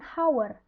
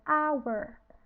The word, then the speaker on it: hour: sedangkan kalau misalnya our walaupun diawali dengan huruf Hah kita bacanya itu bukan hower tapi kita bacanya Hour Hour nah our ini bunyinya